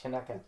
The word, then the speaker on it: Chanukah: It's pronounced Chanukah.